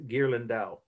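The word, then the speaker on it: Ghirlandaio: a break the artist name gerland dao right is a i g-h-i-r-l-a-n-d-a-i-o you pronounce gerlin dao okay but you have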